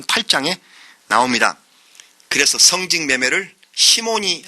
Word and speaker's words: 시몬: 그래서 성직 매매를 시몬이 한 일이다 해서 시몬, 영어식 발음으로 사이몬이라고 그렇게 말을 합니다.